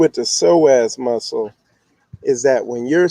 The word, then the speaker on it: psoas: of people get surgery because this muscle, this psoas muscle, and you see how it's spelled Psoas, and it's pronounced psoas.